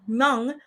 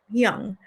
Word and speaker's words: Hmong: Now, she mentions it's spelled Hmong. I think it's pronounced Young.